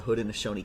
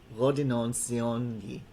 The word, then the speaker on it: Haudenosaunee: So we'll be learning a little bit about the origin of the Haudenosaunee clans.